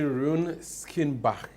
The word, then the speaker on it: Rune Skinnebach: His Excellency Rune Skinnebach, EU Ambassador to Ghana. Did I pronounce that right?